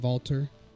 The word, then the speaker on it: Valter: We'll jump over to Valter, which is that how you pronounce it, Valter? That is correct. Okay. Kind of like a Russian Walter. So German, actually.